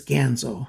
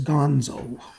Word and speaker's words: Ganzo: wrote in and it's gonzo you know like kin or tan or man or fan or ban or any other word